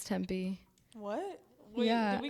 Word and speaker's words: Tempe: That's how you say it? I thought it was Temple. No, it's Tempe.